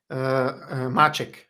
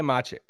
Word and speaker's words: Maček: How do you say his last name? Maček. Okay, Anže Maček. Yes. Let's go. It means a cat in Slovenian, Maček, Yeah.